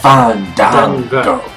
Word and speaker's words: Fandango: It's Fandango."